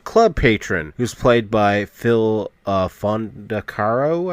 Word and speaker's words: Fondacaro: So while he's in the strip club, he's met with a club patron who's played by Phil Fondacaro, I believe is the way to pronounce his last name.